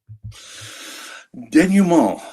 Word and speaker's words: denouement: Denouement. That's how to pronounce it, really? Yeah, denouement. It's from the French.